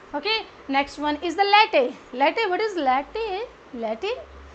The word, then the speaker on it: latte: Okay, next one is the latte. Latte, what is latte? Latte, latte, because this word is again surrounded by the vowels in front and at the back also, so you will pronounce it as latte.